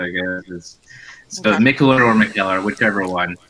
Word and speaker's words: Mikkeller: I mean, I say Mikkeller, but realistically, it's I always get this question like when I was bartending.